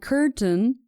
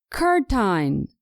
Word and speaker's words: curtain: Both mountain and curtain can be confusing. My students tend to pronounce ein, curtine, mountain at the end of the word, which is incorrect.